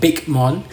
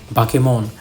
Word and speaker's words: Bakemon: cake cuz that's how you know you put pronounce b a k e but it's not bmon it's not bigon or whatever that back then